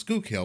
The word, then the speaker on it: Schuylkill: Now, if you look at this word, you're going to be like, how the hell do you pronounce it? But it's pronounced Schuylkill.